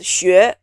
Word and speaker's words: 学: Now the 声母 takes the form of the letter X, but then it's pronounced 西. This one is very hard for people whose mother tongue is English because this sound 西 doesn't exist in English. The 声母 is 西, the 韵母 is 约. It's spelled 西约学, 西约学, as in 学习. So 学, 学, 学, 学.